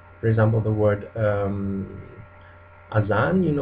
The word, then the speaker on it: azan: And Z or Z is pronounced like in English, but a lot of Indonesians aren't able to pronounce it, and they replace it with the sound S or J, J. For example, the word azan, like the prayer, Muslim prayer.